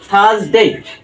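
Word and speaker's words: Thursday: দেখো উইয়েন্সডে Wednesday right এখানে ডি টা কিন্তু সাইলেন্ট হয়ে গেছে ওয়েন্সডে তারপরে দেখো থার্সডে এখানেও কিন্তু আর টা কি হয়েছে সাইলেন্ট হয়েছে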